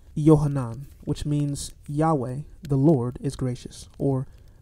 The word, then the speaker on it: Yahweh: burning bush in Exodus 3, 13-15 is likely pronounced Yahweh.